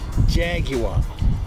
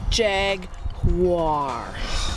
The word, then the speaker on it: Jaguar: 3 syllables. Jaguar. Jaguar.